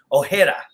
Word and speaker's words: Ojeda: you know you know my last name is actually pronounced ojeda so uh you know